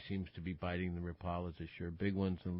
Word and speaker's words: Rapala: Yeah, no, the Rapala is correct, John. It is. No, you're saying it right. Yes. I admittedly. Yeah, I'm. But everybody, Rapala's good too.